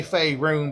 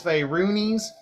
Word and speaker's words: Fayroonies: I know most of you say Fayroon, but just because you're not pronouncing it right, it's Fayroonies. Anyway, yeah, that's where I'm.